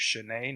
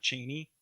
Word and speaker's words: Cheney: I guess that's how you say her name, is Shanae, not Cheney. It's Shanae. I found that out on a podcast, but I'm going to call her Cheney because Shanae just sounds stupid.